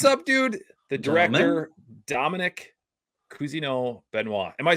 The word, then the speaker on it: Cousineau-Benoit: show Dominic what's up dude the director Dominic Kino benoa am I saying it right oh man you